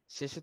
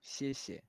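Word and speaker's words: 谢谢: শেষে শেষে শেষে এ আপনার জিহ্বাটা একটু ইয়া করে শেষে শেষে হ্যাঁ, যে মানে একটা বাতাসের বাতাসের মাধ্যমে বের হবে যে শেষে শেষে জি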